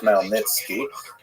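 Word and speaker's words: Khmelnytsky: It's actually pronounced Nitski uh with a guttural at the beginning.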